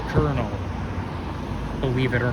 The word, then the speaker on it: Colonel: It's spelled colonial, but it's pronounced Colonel, believe it or not.